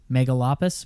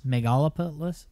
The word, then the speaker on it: megalopolis: far what's mega lapras how would you pronounce that word mega lapras megalopolis megalopolis megalopolis that's what it is megalopolis new word everybody megalopolis it's like a Cosmopolis megalopolis yeah I thought